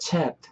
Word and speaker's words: chapped: 그래서 my lips get chapped 하실 때 chapped 이놈의 발음을 좀 잘 지켜주셨으면 좋겠어요. chapped 이렇게 생긴 대로 발음하지 마시고 그냥 chapped 뒤에 그냥 이 발음이 거의 안 느끼죠?